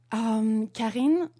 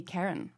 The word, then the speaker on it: Carin: Karin in French, and in English it would be Karen.